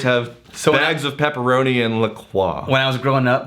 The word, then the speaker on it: La Croix: wash it down with like I call it LaCroix, it's pronounced La Croix, but like a carbonated water.